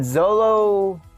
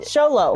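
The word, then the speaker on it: Xolo: his figure we had Zolo well you're pronouncing his name wrong you say it then sholo sholo fine I always say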